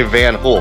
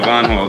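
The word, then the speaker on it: Van Hool: how do you pronounce I always say van hul but I love the correct way is v v van V not van H yeah yeah yeah yeah yeah so Von don't worry we got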